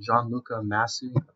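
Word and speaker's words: Gianluca Masi: come out that pretty much confirmed this so Gianluca masse that's how you pronounce his name but in a bunch of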